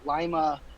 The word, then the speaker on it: Lima: happen to work out I'm actually in Lima Lima Ohio I pronounced it wrong earlier today but I was